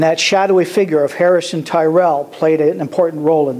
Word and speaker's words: Terrell: So we've always pronounced it Terrell. In fact, his name was Terrell, not Tyrell.